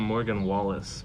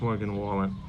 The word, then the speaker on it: Morgan Wallen: I think sometimes I call him Morgan Wallace, but it's Morgan Wallen.